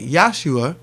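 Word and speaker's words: Yeshua: Now, you wouldn't pronounce it like Jesus like that. It would be closer to, you would probably say it in Aramaic, Yahshua.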